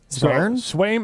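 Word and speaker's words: Sveum: Swaim is S-V-E-U-E-M. That's how you say it.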